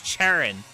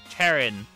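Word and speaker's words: Cherrim: um has a lot of people talking it's cherin as in Cherry cherin cherin pronounce cherin yeah yeah that's that's definitely one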